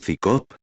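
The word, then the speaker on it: CSICOP: él desde el principio su acrónimo psico se pronuncia es cicop como si se tratara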